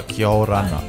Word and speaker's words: Kia orana: Kia rana? Yeah, good, mate. Good. Is that how you say it in Cookie? Just kia rana? Yeah, kia orana.